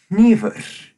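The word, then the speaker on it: hnífur: the place in Icelandic for example their word for a knife is Nevis if you listen carefully you can hear me breathing out of my nose at the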